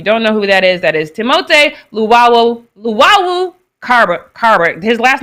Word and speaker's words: Timothée Luwawu: For if you don't know who that is Timothée Luwawu Carbo. His last name is French, which is Carbo, whatever. So, but it's Timothée Luwawu Carbo.